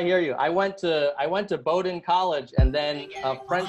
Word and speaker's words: Bowdoin: I went to Bowdoin College, and then a French person in the office said, oh, it's actually pronounced Baudouin.